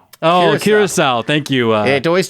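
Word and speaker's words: Curaçao: got something from our producer what how's it pronounced oh Curacao thank you uh it always takes us alcoholic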